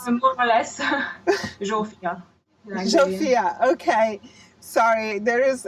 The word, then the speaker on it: Zsófia: How do you pronounce? More or less, Zsofia.